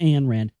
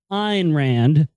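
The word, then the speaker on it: Ayn Rand: IR Rand I'm sorry let me say it correctly not an Rand iron Rand uh there's an interest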